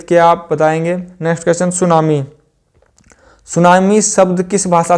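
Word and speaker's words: tsunami: बता सकता है तो सुनामी शब्द स्टार्ट होता है टी से टी के बाद आता है एस ठीक है सुनामी शब्द किसे स्टार्ट होता है इसमें टी साइलेंट होता है सुनामी शब्द किस शब्द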